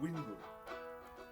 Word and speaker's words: Vingul: So "Vingul" or (pronounced) "Wingul" So, you should know